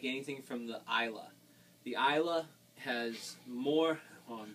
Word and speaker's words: Islay: on the isla now isla is spelled i-s-l-a-y okay it looks like islay but it's pronounced now the eyelash scotches